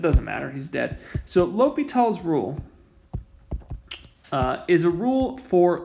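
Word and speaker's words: L'Hôpital: of how it's spelled the pronunciation guide for this is low p tall famous french mathematician really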